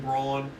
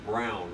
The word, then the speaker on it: Brawn: so you are aware my last name is pronounced Brown, right?"